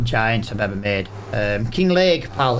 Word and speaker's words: Kinlaig: I'm sure it's probably said like King Lake with like imagine a Scottish person saying it.